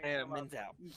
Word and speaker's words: Menzel: I can never pronounce the girl's name who plays Elsa. Del Dazim. Yeah. Oh, man. Her. Menzel.